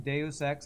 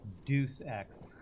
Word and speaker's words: Deus Ex: You loved the game Deus Ex, you always thought it was pronounced Deuce X. Like Deuce Bigelow?